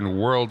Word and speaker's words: Whirrled: I'm going to change the word world in Dimebag Whirrled Headquarters to world. WHIRLED, like spun around, world. So Dimebag Whirrled Headquarters is not going to change much in pronunciation, but it is in every other, in that way.